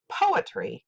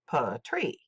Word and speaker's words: poetry: For instance, we say poetry, not poetry.